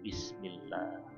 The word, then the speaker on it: Bismillah: Tapi kalau sebelum lafaz Allah itu kasroh bi misalkan, atau mi, maka kita bukan Allah bacanya, tapi Bismillah, bukan Bismillah tapi Bismillah. Sama dengan billah, jangan biwah